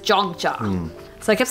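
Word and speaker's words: Yogyakarta: have to say because I kept calling it yog yakata and everyone was like what like what is yog because it's spelled yo G and I didn't know it was pronounced jogja so I kept saying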